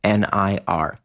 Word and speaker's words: Nir: nearandfar and you want to enter in the discount code near and far now remember near is spelled like my first name nir check that out at